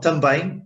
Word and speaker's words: também: Try to divide it in two syllables, tan and bem. One syllable, okay? Tan, one syllable, bem, two syllables.